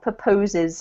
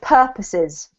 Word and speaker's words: purposes: This is pronounced purposes. Purposes. Yes, well done. Not proposes. It looks like proposes, I know, but it's purposes.